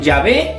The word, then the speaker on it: Yahveh: medio de las consonantes el nombre de dios es y h v h que es el tetra grama ton sagrado y los judíos lo pronunciaban así llave y castellano se escriben llave por lo tanto la pronunciación llave es sin duda la más correcta del hebreo original para indicar adiós como